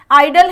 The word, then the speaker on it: idol: ठीक है, और IDLE, इन दोनों का भी प्रोनाउंसिएशन सेम है, आइडल है।